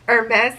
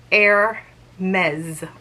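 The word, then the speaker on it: Hermès: how you pronounce it hermes is a proper french name so you should pronounce it air mezz almost like there's a z at the end so i purchased this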